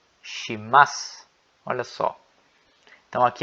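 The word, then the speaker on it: します: A mesma ideia acontece com o su. No final aqui, ó, ele não é pronunciado. Shimasu.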